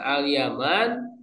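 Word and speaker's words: اليمان: Nah, Alyaman cara membacanya bifatil musannati tahtiah. Mempatahkan huruf yang bertitik dua di bawah. Maksudnya huruf ya. Watahfifil mim. Mentahfifkan mim artinya tidak pakai tasdid.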